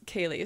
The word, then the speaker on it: Kahlee: what's your so okay my handle is kaylee so kayla and my name is spelled k-a-h-l-e-e which i know is a hard one for people because i get cauli a lot but i love your